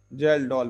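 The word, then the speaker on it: Kjeldahl: नाम है gelled method gelled की स्पेलिंग पर ध्यान देना के से स्टार्ट होती है जेल डॉल मेथड इससे भी हम परसेंट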